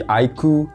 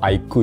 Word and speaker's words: iQOO: Kalian nge-request terus ya di setiap video, yaitu si iQOO Neo 10. Yap, kalian bilang cara nge-pronounce ini tuh iQOO ya, bukan IQ.